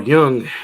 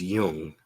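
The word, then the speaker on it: Jung: young matured he uh sorry it's Yung I believe you pronounce it Yung even though was it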